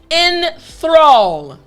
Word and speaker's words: enthrall: So the entire word after me is enthrall. Excellent. Last time, enthrall. Great job. So now you know how to pronounce the word properly.